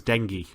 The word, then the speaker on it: dengue: As in dengue rain from Survivor Philippines. Oh. JK pronounced it on the radio as dengue, but it's dengue.